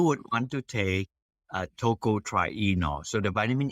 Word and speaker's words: tocotrienol: company okay you would want to take a Toko try Eno so the vitamin E is tocotraino vitamin E uh it is it's spelled t-o-c-o -t-r-i -e-n-o-l so if you just